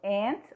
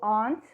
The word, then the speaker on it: aunt: Tia, que também pode ser pronunciado como aunt. Então, aunt ou aunt, que é tia.